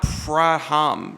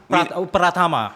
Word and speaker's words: Pratama: Yeah, And- we're not Praham, right? Is that how you pronounce it? No, Winan. Pratama. We're not Pratama.